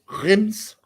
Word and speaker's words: Reims: go with Reims because that's what Charlie said because he played in France. You would think he would know how to pronounce the name of the team. He didn't play for that team, I don't believe. No, he didn't. No, he did. So he said it was Reims, and so Balogun keeps